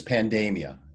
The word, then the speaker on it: pandemia: And I pronounce this pandemia. I called it pandemia.